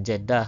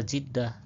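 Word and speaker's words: Jiddah: Tulisan jedah harus dibaca jidah ya. Karena memang aslinya bunyinya jidah bukan jedah ya.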